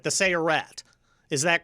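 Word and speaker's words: Sayeret: You're in the recon unit, the let me see if I pronounce it right, the Searat.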